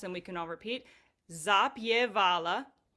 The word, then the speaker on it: zapjevala: Zapala. Zapala.